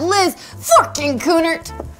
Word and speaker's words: Liz Forkin-Kunert: And we have Liz Forkin-Kunert.